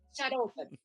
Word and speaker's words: Itxaropen: Aliás, se vocês leram Antônio do Outro Continente, a colônia basca Itxaropen, é assim que se pronuncia, Itxaropen, que significa esperança em basco.